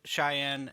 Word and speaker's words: Cheyenne: you probably fly uh your people's flag the Cheyenne and Arapaho tribe did I pronounce that right yes sir cheyen and rapo